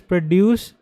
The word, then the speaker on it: produce: So this particular word if you are pronouncing it as produce so you are producing something making something. But if you pronounce it as produce, so emphasize on the first syllable produce.